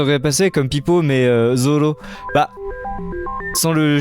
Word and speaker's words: Zoro: aussi cohérent c'est comme ça que ça se prononce tu dois théoriquement quand tu veux parler japonais domo domo japonais Zoro et c'est tout c'est il y a pas